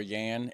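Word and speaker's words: Jan: like common names were Yan and K's um in Dutch what we have is a j is pronounced like a y right but uh so Yan and and K's which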